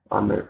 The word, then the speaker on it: Amir: are okay good okay Amir so we pronounce it as Amir right Amir okay fine okay